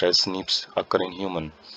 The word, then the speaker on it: SNPs: बोलता है, single nucleotide polymorphism बोला जाता है, pronounce as स्निप्स occur in human.